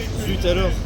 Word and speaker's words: Zut alors: I'm not sure if the T is silent in French. Is it Zoo? Frenchy speakers? Or is it Zutulor or Zoualor?